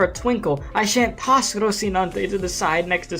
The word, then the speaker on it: Rocinante: like destroy y'all's ears in Spanish you can say it as rosinante yeah it is just rosinante Spanish rosinante yes all right donante y